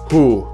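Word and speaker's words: hoe: Flanders I know it's written ho but it's pronounced who as well the French version of saying the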